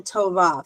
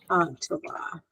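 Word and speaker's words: טובה: Tova. The H. It usually ends with a silent Hebrew. It usually ends with a silent yeah. Tova. Yeah, it's a silent H at the end.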